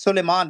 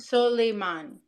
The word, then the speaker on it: Suleiman: Just Suleiman. There's no I in it. You just created an extra I at the end. Suleiman.